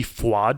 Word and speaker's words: FUAD: It's LG FWAD. FWAD is spelled FUAD, and it stands for Let's Get Fucked Up and Die.